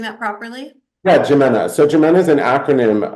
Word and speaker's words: JIMENA: So, tell me about the work that you're doing with Geminina. Am I pronouncing that properly? Yeah, Jimena.